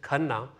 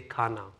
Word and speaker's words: Khanna: And my last name is Khanna, but Americans say Khanna.